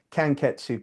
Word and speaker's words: Kanketsu: Kanketsu, Kan, and then Ketsu, Ketsu.